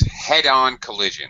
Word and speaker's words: head-on collision: Head-on collision. And this is uh as far as pronunciation, this has compound noun syllable stress, head-on collision. So high, low.